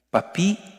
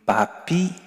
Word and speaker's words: papi: En Francia a los abuelitos les dicen papi y mami, así con el acento en la i, papi y mami.